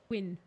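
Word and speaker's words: Gwyn: a special move set his name is LW but it's pronounced like it rhymes with win you can win against win oh I see we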